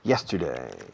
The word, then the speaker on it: yesterday: Let's go over what we saw yesterday. Yesterday, no yesterday. Yesterday, como hiedra, hierba, hielo, yesterday. Así se pronuncia la Y inglesa.